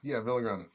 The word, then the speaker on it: Villagrana: And, if I say it wrong, is it Villagrana? Yeah, Villagrana works. Because you're a big dude. I don't want to say it wrong. I imagine the last person that said it wrong, they can't find him. He's a mile high, buried somewhere. Yeah. You'd be surprised how many people, it's exactly like it's spelled, but it's all good.